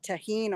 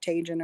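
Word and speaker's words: Tajín: I do like watermelon with that tahine on it. It's spelled Tajin. If you don't live in the South, you might call it Tajin or something.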